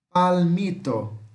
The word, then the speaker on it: palmito: Palmito, palmito, palmito, tá? Palmito, palmito, tá? Em espanhol eles dão uma certa ênfase nesse L, tá?